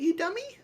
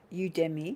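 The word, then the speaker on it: Udemy: the you dummy courses that's how you say it isn't you dummy you demi oh you demi okay you demi courses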